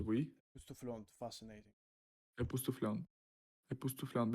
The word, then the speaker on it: époustouflante: Et vraiment époustouflante, oui. Epoustouflant, fascinating. Époustouflante. Epoustouflante. Without air pronunciating, right? There is no air.